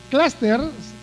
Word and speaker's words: cluster: Cluster se pronuncia con la A la U, claro, porque es un vocablo inglés.